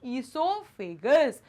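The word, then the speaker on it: oesophagus: और स्टमक तक कौन पहुंचाएगा, फूड पाइप, या उसे ईसोफेगस भी कहते हैं। ओ साइलेंट रहता है स्टूडेंट्स, इसलिए उसे क्या बोलते हैं हम, ईसोफेगस।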